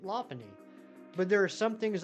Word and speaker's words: Lopunny: we're hunting right now for years I called this low py but um again Ary uh taught me about the uh the Lop part and so now I pronounce it Lany but there are some